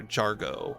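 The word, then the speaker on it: Jhargo: It's uh Jiargo or Jargo with a silent H. J H A R G O.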